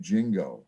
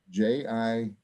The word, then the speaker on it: Jingo: be a band named jingo this is going to be in september now spell that j-i-n-g-o jingo bingo now let's it's a